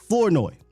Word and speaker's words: Flournoy: now was wide receiver Ryan floi that's how you say his name now when